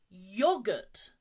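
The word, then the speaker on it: yoghurt: a silent letter again yogurt yogurt don't pronounce the H yogurt menu be careful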